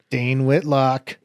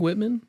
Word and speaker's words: Whitman: yeah there's two of them as per uge dane whitlock dane whitlock whitman the best you said it wrong so you're